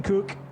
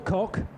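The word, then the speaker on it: Koch: Kenton Cook, or Cock, whichever you prefer. I always thought that Kenton pronounced it Cook, in truth, but that's fine.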